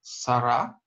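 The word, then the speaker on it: שרה: Поэтому имя Сара читается именно так, а не с эй на конце. Да? Эй здесь не звучит.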